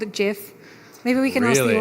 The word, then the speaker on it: GIF: reach the audience so who calls it jiff show of hands and gif on the other side okay it looks like so Steve he invented the gift was 1987 our context is that things have changed a bit since 1987 just a bit just a bit it was named Jeff like the peanut butter and I said things